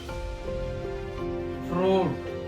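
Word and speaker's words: fruit: आई पर चलते हैं आई कहा साइलेंट होता है आई का दोस्तो कोई क्यों नहीं होता कि आई क्यों साइलेंट है बस वो थ्री वर्ड में साइलेंट होता है एग्जांपल एपल हम लेते हैं जैसे एफ आर यू आई टी इसको क्या पढ़ेंगे इसको फ्रूट एंड एस य आई टी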